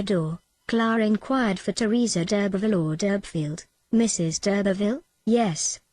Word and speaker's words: d'Urberville: "I know no name of Durbfield, but there is the name of d'Urberville at the Herons," said the second. "That's it!" cried Clare, pleased to think that she had reverted to the real pronunciation.